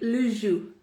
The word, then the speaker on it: jus: So it'd be le jus. Le jus. Le jus. And that would be spelled J-U-S. En français, J-U-S. And the S at the end is silent.